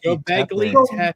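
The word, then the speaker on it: Göbekli Tepe: Gobekli Tepe.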